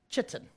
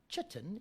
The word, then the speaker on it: chitin: different from your teacher a lot of people say it differently but i always call it chitin right the nice way of calling it chitten is that you can remember how to spell it right so chitsen that